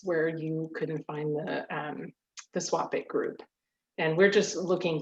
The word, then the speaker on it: SWOPIC: So the Southwest Oregon Pollinator Collaborative, or SWOPIC is how you pronounce that acronym, is another collection of partners that are government, agencies, nonprofits, and pollinator advocacy groups.